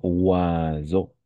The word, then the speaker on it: oiseau: On va prononcer oiseau.